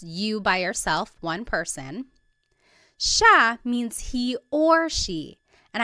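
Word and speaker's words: siya: It looks like it should be pronounced sea, but it's actually pronounced sha sha. There are some regions in the Philippines that might pronounce it sa but for the most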